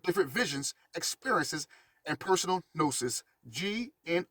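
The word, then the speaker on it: gnosis: of view with different Visions experiences and personal nosis GN o s i s you should already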